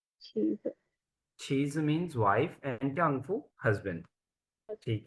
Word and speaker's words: 丈夫: फू साइलेंट नहीं है बच्चे। फू बेसिकली न्यूट्रल टोन है ना, तो न्यूट्रल टोन को हम हमेशा बहुत शॉर्ट और लाइट पढ़ते हैं।